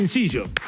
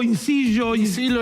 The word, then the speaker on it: Inzillo: Momento ideal para recibir a Incillo. Bien. ¿Pronuncié bien el apellido? Sí, perfecto. Incillo, Incillo en italiano, Incillo en porteño.